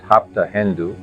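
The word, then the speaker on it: Hapta Hindu: The ancient homeland of the Iranians, Arans pronounced Hapta Hendu, Hindu instead of Sapta Synindu.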